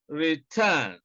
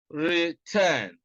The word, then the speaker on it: return: You can see that stress is on the second syllable in about, and also in return, return.